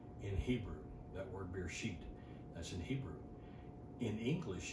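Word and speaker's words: בְּרֵאשִׁית: out the year so the word is actually pronounced beer sheet in hebrew that word beer sheet that's in hebrew in english you can translate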